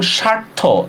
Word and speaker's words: স্বার্থ: আচ্ছা, আরো দেখি, যেমন লিখতেছি যখন স্বার্থ, দেখেন তো বফলার উচ্চারণ কি হয়েছে? বফলার উচ্চারণ হয় নাই, ঠিক না?